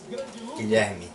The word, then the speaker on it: Guilherme: Guilherme. Guilherme? Guilherme. Guilherme. You probably don't know how to say it, but it's okay. Like Guillermo? Yeah, kind of.